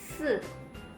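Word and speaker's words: 四: 4 itu giginya rapat, lidah nempel ke gigi depan. Se. Jadi kedengarannya kayak runcing gitu teman-teman.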